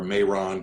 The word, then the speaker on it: Mehran: I want to call her Mehran because it's spelled like Tehran, but with an M instead of a T.